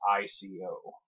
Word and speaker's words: Ico: The one you may or may not be familiar with is Ico. That's I-C-O. It would be pronounced Ico, since it's Japanese based.